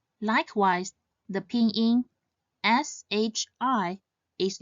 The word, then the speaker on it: shi: Instead, it should be pronounced as Z. Likewise, the pinyin SHI is not she, E, she, but shi.